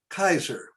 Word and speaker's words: Caesar: But when I took the course, we pronounced Caesar Kaiser. And I understand in Latin, it's a hard C instead of a soft C.